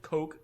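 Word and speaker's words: Koch: Made by Heckler Heckler and Coke or Heckler and Cotch, however the hell you want to pronounce it. I say cotch. Everyone says cotch.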